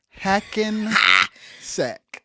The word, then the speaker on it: Hackensack: Hackensack. Yes, Hackensack. And it's spelled how it sounds.